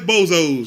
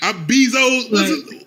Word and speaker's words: Bezos: before i get off here man uh jeff bozos you know jeff bozos is like the richest role in the world you said jeff bezos if i'm saying his name wrong the way